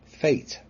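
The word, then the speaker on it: fete: is also called a fate spelled f-e-t-e but in it in these circumstances have the same pronunciation as fate spelled f-a-t-e is there evidence of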